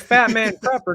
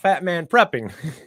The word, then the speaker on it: Fat Man Prepper: It's Fat Man Prepper, not Fat Man Prepping.